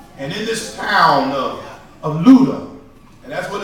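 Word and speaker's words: Lydda: And in this town of Luda, and that's what it's pronounced, it's not Luda, it's really Luda.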